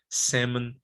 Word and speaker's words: salmon: go goal okay now the l is not pronounced in these words these words it's silent right so there's no hell